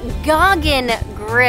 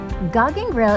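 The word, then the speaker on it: Gauguin Grill: so i'm gonna give a little correction it's goggin grill i just learned how to pronounce it gog and grill is turtle and only beachfront restaurant featuring fresh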